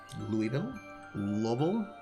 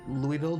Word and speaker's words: Louisville: Louisville. There's like a whole thing. Like I know that people from Louisville don't pronounce it that way. There's like a thing, like a Louisville sort of thing, like in the back